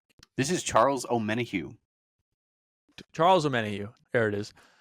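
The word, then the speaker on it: Omenihu: guy oh too late my guy is Deon pronounce his last name this is Charles om menu Charles menu there it is um so we've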